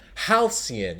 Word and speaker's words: halcyon: Halcyon is how we pronounce it.